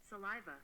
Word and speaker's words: saliva: there we go saliva saliva okay okay the tonic accent is on the second syllable saliva okay hello again cute